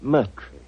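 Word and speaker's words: Murtry: you Doctor uh my name my name is merre Oh indeed spelled mu r t r y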